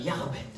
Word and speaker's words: Jochebed: Sabi nila sa Hebrew, pag pronounce nyo dapat Jochebed. Yung medyo may plema.